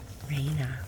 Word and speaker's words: Raina: But no, it's spelled R-A-I-N-A, Reina, like the rain.